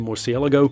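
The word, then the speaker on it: Murciélago: The SLR 722 GT, the Lamborghini RGT version of the Morsielago. Yes, that is how you pronounce it.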